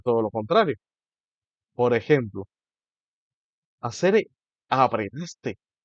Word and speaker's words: asere: Hacer se pronuncia con una fuerza de pronunciación en la primera sílaba, o sea, hacer, y la R es suave, no es una R, sino una R.